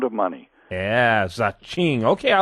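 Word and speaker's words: Zhing: well the name is zaching like Ching only we couldn't get Ching registered so we now change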